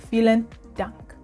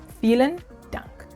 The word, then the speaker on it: vielen Dank: And then if you want to say thank you very much, then you'd add vielen Dank. Vielen Dank. The V is pronounced like an F. So vielen Dank.